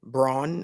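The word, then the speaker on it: Braun: is it GNA be Christian Brawn I'm not calling him Brown because that's not how his name is pronounced um is it going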